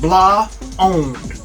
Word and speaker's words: blaand: or blonde so um it's spelled b-l-a-a-n-d but it is but it's pronounced blah owned it's a blonde in